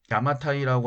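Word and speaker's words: 邪馬台: 일본 서기에는 이런저런 사건들이 많이 뒤섞여 있는데 3세기에 야마데, 일본어로 야마타이라고 하는 나라의 여왕 비미오, 일본어 발음으로 히미코가 등장했다라고 삼국지 위지 동의전에 서술되어 있었습니다.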